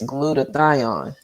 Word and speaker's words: glutathione: there's a constituent in clothes that actually stimulates glutathione the mother of antioxidants your favorite one yes I finally learned how to pronounce it glutathione yes sir so you know